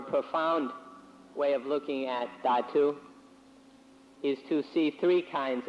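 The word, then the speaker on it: dhatu: so i sometimes say datu in thai it's pronounced tatu so that's why i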